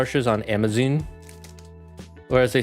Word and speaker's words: Amazon: UK and he says Amazon. Like, he doesn't pronounce the second A. It's Amazon instead of Amazon.